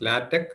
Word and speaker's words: LaTeX: writing latch and Tech and it should be pronounced as latch and Tech the default font used is one